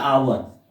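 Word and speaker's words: hour: लेकिन एच जो है इसमें क्या होता है? साइलेंट होता है, ठीक है। इसका उच्चारण किस तरह होता है? आवर। इसको क्या पढ़ते हैं? आवर। तो देखिए इसका पहला लेटर क्या है? कॉन्सोनेंट, लेकिन इसका उच्चारण जो है हो रहा है वोवेल की तरह।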